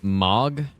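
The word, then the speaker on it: Mohg: dead end here right is it pronounced MOG I don't think it who even cares right pretty sure it's Mo though but who even cares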